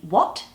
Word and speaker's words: what: a word for example the word what rather than saying what which will be more of a cultivated sound which is also Australian and still correct if you want more of a general sound then we would make that a silent T to create that silent